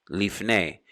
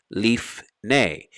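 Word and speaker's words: לִפְנֵי: literally to face someone leaf nay leaf nay would be before moses leaf nay israel would be before israel leaf leaf nay notice the glottal stop leaf leaf nay leaf nay so there's a shiva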